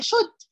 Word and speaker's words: should: هي شود. يبقى هنبدا بمين عشان نعمل سؤال بهل يجب؟ شود، ال اللي هنا مش بتتنطق، شود اي عشان احنا بنسال عن احنا، هل يجب علينا احنا او عليا انا؟